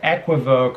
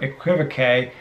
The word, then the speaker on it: equivoque: additions or contributions to equivoque or equivocae however you want to pronounce it so max maven